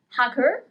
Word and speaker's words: hacker: We don't pronounce the letter H. Hacker, hacker.